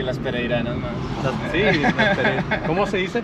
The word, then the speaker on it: pereiranas: Y las pereiranas más.